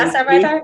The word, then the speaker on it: Gastarbeiter: context of Turkish-German authors or authors writing in Gastarbeiter experience. Did I say it correctly? Gastarbeiter, yeah.